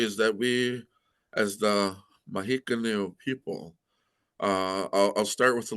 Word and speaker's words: Mohican: Um, James Fenimore Cooper wrote a book, Last of the Mohicans, which became a movie. Of course, you all know. But he got our name wrong. Our name is Mohican.